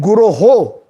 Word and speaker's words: Guroh: Vande Guroh. Guroh Shri. Yeah. Not so. Most of us sometimes mispronounce. We say Vande Guru Shri Charanaravindam.